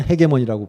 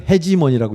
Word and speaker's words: hegemony: 근데 바이폴라헤게모니라는 것도 있죠 참고로 헤게모니라는 거는 영국은 헤게몬이라고 읽고 미국에선 해지몬이라고 있더라고요 저는 영국식으로 하겠습니다 영국 제 별명이 브리티시